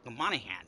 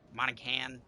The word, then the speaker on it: Monaghan: youtubers play with the monahan and yes it's a silent g you could monican monahan whatever um i want